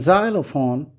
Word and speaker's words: xylophone: example germ gem ginger x produces two sounds in xylophone x sounds like ze in fox x sounds